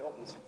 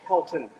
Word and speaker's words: Helton: Von Hilton, like he's one of the Hilton clan that runs the hotels, the Hiltons. No, it's Helton, not Hilton.